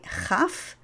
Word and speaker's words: chaf: dagesh, it's called a chaf, and it is not pronounced like the ch English, which is usually ch, but rather ch, as in Bach.